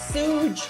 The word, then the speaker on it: Suge: It's pronounced Suge Knight.